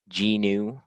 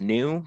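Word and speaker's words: GNU: out of the um G new I know it's pronounced new but for clarity I'm going to say G um the G emac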